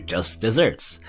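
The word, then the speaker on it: just deserts: nothing so that's your just desserts you know it still pronounced like desserts but it is like referring to deserts there's oh I believe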